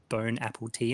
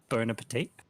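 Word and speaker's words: bon appétit: like you know like when people mispronounce stuff like burn Apple tea and stuff instead of burn Appetit now it's not even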